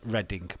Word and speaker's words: Reading: just reading it how you meant to read it Oklahoma